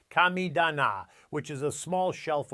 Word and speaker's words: kamidana: Some Japanese gardeners maintain what's called a kamidana, pronounced kamidana, which is a small shelf or altar where they express gratitude to the spirits of nature.